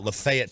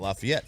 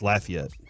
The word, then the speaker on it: Lafayette: you say it like Gaylord that's how they pronounce it up there I did not know Taylor Gaylord they call it uh Lafayette Tennessee not Lafayette so you got you know I bet you're